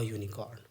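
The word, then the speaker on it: unicorn: उच्चारण क्या है, यू, हम बहुत ही फैमिलियर हो चुके हैं। अब क्या लगेगा, अ यूनिकॉर्न।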